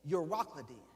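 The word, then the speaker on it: Euroclydon: The wind named and I'mma pronounce it because I said you rockin. Eur o c l y d o n. Uracleen.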